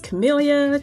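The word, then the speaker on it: Kamelia: My name is Chameleia. Just like the flower but spelled with the K.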